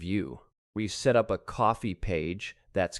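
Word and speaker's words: Ko-fi: We've set up a coffee page. That's K O FI pronounced just like coffee.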